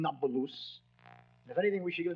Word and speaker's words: Nablus: conquered scheming quoted naples the arabs have difficulty pronouncing a p so not palouse became nabaloos if anything we should